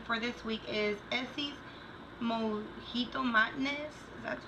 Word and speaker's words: Mojito Madness: Nail polish that I've been wearing for this week is Essie's Mojito Madness.